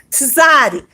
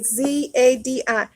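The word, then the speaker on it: צדי: The Zadi, so you can pronounce it correctly, it'll be written with a Z-A-D-I, Zadi.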